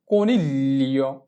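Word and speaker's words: coniglio: চি ও কো, এন ই এল এ নীল, এল ই ও লিও, কনিলিও, কনিলিও মানে হচ্ছে খরগোশ। জি কে এল এ ধরে উচ্চারণ করব এবং এল এর সাউন্ডটা হবে অর্ধেক।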